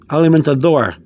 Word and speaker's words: alimentador: o r sound door because the d is between the d is between two vowels the a and the o in this case we have a d betw between two vowels sometimes you hear the spanish people speak the with a d th sound but the th is very very light so um you have a alimenta door will become will become alimenta door elemental door okay elemental door okay